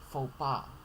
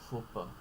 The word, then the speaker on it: faux pas: Albeit, cash, cool, debris, epitome, faux pas, or faux pas. I don't know. I've seen two pronunciations. They're both valid.